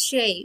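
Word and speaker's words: Shea: Jerry Shay, pronounced Shay, was paying his respects.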